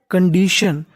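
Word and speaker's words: condition: इसे तोड़ लेते हैं सी ओ एन सी यू एन को हम लोग पढ़ते हैं कण क्या पढ़ते हैं कण और आखिरी में लिखा है टी आई यू एन इसे पढ़ना है शन तो मीनिंग बन गई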